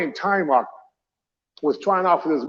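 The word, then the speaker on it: Taimak: best friend even though people call him time map but it's time mark That's the proper pronunciation but he's the last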